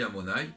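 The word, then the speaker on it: Adonai: Et la valeur numérique que Yudke Vavke, donc Amonai, qu'on lit Amonai, qui s'écrit Yudke Vavke, c'est 26.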